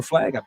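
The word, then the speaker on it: PFLAG: uh p flag or flag from the flag and the p is silent there and then as we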